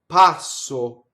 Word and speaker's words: passo: Sul passo. Notice how I carefully did the double S. I didn't do it too hissy and early. Passo.